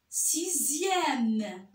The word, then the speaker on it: sixième: Dans d'autres cas, le X se prononce Z, comme dans le mot deuxième, sixième.